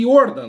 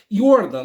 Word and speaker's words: Jordan: a família Jordan né pronuncia-se Jordan né se escreve Jordan mas se pronuncia yordan né a família yordan